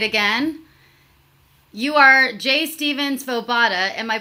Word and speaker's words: Svoboda: make love great again you are Jay Stevens Bovada am i pronouncing your last name correctly okay it's say what kind of a name